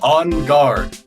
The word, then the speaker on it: Engarde: Okay, yeah, it's On Guard. I don't know why you're putting extra pronunciation on the de. I don't know why you're going gar.